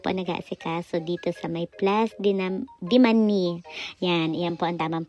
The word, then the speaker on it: Place de Manille: Ayan po sila po nag-aasikaso dito sa may plus diman yan. Yan po ang tamang pronunciation ha.